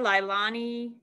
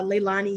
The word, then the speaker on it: Leilani: minute to get there lilani uh and please let me know if i pronounced your name wrong just correct me it's okay it's uh leilani yeah and no worries